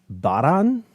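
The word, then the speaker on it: バラン: Okay, I still struggle with this one because I say Varan. However, I know that technically it's Baran because the Japanese don't have the hard V or the hard B. So it's like sort of a mixture between the two, Baran.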